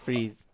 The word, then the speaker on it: Fries: fries I know but that's how they've always pronounced really yeah oh that's right yeah fries freeze uh your number above